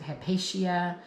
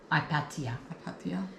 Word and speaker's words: Hypatia: So, her name is Hipatia or they didn't pronounce the H. So, Hipatia H Y P A T I A. Hipatia. Or some people might pronounce it Hepatia or you know everyone